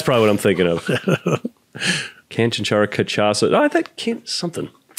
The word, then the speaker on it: Canchanchara: Now I looked at it, I wanted to say Canchanchara, but it's Cuban, and when there's accent in the middle syllable, I think it means you emphasize the middle syllable. So Canchanchara.